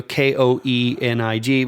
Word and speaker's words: Koenig: yeah right so so when we see you know koe ni g we think Kaena yeah that's how it's pronounced but I wanted to double check and make sure we were saying it right and it is Koenig he said that it sounds kinda like go Knicks but when I was